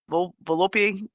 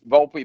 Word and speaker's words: Volpe: begin with Mr Mr Mrs volope if you're president uh yes ma'am it's Volpe I'm from Virginia